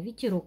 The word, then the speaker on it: ветерок: запишем это слово ветерок ветерок поставим знак ударения ветерок ударения падает на третий слог укажем количество слогов в